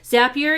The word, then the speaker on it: Zapier: and paste that into Zapier. Rhymes with happier. Zapier, you can get a free account.